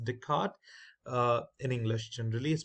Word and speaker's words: Descartes: type where we use Descartes Rule now this is not descarte it's a Descartes uh it's a French name I believe it's pronounced Descartes uh in English and